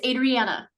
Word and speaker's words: Adriana: So Jessica, daughter, and is it Adriana or Adriana? I want to make sure I'm saying it right. Thank you. I appreciate that. It's Adriana. Adriana.